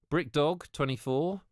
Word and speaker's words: BrickDog24: BrickDog24, I believe, likes it pronounced BrickDog.